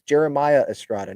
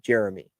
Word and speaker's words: Jeremiah Estrada: pronounce them them correctly it's Jeremiah Estrada not Jeremy that's not that hard and then some sometimes